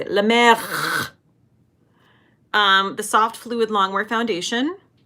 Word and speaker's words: La Mer: Okay, now I am going to use my La Mer. That's not how you say it. La Mer.